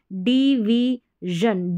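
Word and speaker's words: division: फिर यहां पर देखें डिवीजन डिवीजन बोलेंगे डि नहीं बोलेंगे श नहीं बोलेंगे ज बोलेंगे यह वाला ज डिवीजन फिर यहां पर है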